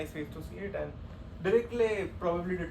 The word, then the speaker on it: Dirichlet: Okay, now since we have defined Dirichlet density, and yeah, so pronouncing Dirichlet, you may pronounce it Dirichlet, Dirichlet is probably correct, but fine.